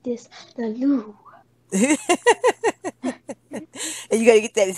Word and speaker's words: Louvre: Yeah, the Louvre.